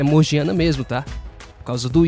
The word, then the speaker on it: Morgiana: vou chamar ela de morgiana, tá? Porque eu vi muitos resumí que as pessoas chamam ela de Morgana, só que não, não é Morgana, tem o I meio, então é morgiana.